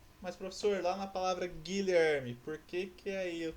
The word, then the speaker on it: Guilherme: Mas professor, lá na palavra Guilherme, por que que aí eu tenho menos fonemas do que letra? Porque na palavra Guilherme, você não pronuncia o U.